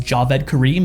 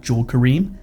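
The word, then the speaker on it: Jawed Karim: I think his name is actually pronounced Javeed Kareem and not Jaw Kareem.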